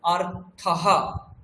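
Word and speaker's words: অর্থঃ: অকার রয়েছে তাহলে অর্থ অর্থ হওয়ার পরে একটা বিসর্গ আছে তাহলে অর্থাহ আরহা অর্থাহ আর এদিকে শব্দাহা শব্দাহা এদিকে অর্থাহ তাহলে বিসর্গের উচ্চারণ আমরা এখানে কিন্তু করব এবং সেটা যেন আমরা স্পষ্ট বুঝতে পারি যে বিসর্গ আছে। যদি বিসর্গের উচ্চারণ না হয় তাহলে সেটা কিন্তু ভুল হয়ে যাবে।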